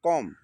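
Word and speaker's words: comb: कॉम कॉम इसको कॉम्ब नहीं पड़ेंगे।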